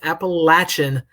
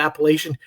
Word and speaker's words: Appalachian: You go into Boone or anywhere near Boone and call it Appalachian, you will be not always gently reminded that you are incorrect in your pronunciation.